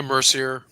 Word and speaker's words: Mercier: Did I pronounce it right this time? Yeah, Mercier.